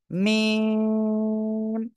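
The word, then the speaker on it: ميم: সবাই উচ্চারণ করেন ওকে মিম অক্ষরটা আমরা উচ্চারণ করবো দুই ঠোঁটের শুকনো জায়গা থেকে মিম চার আলিফ টান হবে ঠিক আছে ওকে আর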